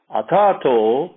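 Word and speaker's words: अथ: The padangal, the words are atha. That tha comes from the stomach.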